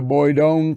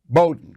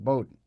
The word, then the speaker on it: Bowdoin: United States, graduated from Bronx High, went to Boydon College in Maine, Bowdoin College. I'm saying it wrong, Bowdoin.